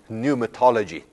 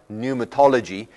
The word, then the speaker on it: pneumatology: use for that is pneumatology now in English we don't pronounce the P in that word but in Greek we actually do so pluma means spirit